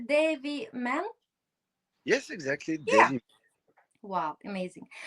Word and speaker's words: Devy Man: power of inclusive expression is do am I pronounced correctly? Dave man.